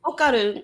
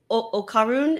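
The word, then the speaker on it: Okarun: like is pronounced where we pronounce our D's like so right behind your teeth at the roof of your mouth and but instead of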